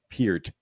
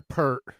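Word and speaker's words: Peart: good quote here from Neil per Pier is it oh you said it right the first time per yeah I yes I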